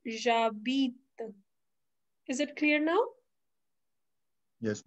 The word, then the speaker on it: j'habite: तो इसमें से कुछ भी पूछेगा, your answer will be like j'habite à blank में अपनी city, j'habite, pronunciation is j'habite।